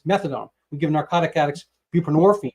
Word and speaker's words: buprenorphine: We give narcotic addicts buprenorphine, which rhymes with morphine, Suboxone.